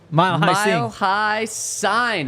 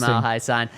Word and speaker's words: Mile High Sign: It came in from our friend Mile High Sign, actually, is how it's pronounced. Yes. Really? Yeah, he reached out to me and said it's pronounced Mile High Sign.